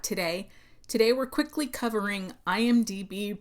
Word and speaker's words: IMDb: So I hope this helps someone out there in the world that might not be aware that they're actually pronouncing it incorrectly. And IMDb is considered the world's most popular source for film and TV.